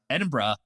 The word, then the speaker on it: Edinburgh: David, how do you say the city that he taught you how to pronounce? Edinburgh.